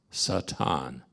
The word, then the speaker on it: Satan: A's in most languages a certain letter like an a is going to be pronounced all the same all the time like an ah sound Satan you don't mix thing